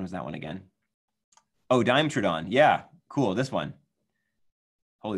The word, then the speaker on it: Dimetrodon: Helping me pronounce these dinosaur names. Some of them are pretty tricky. April says, Dimetrodon.